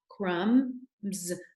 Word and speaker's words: crumbs: This is short vowel, crumbs. In lamb, MB, that B is silent. Remember that. Crumbs.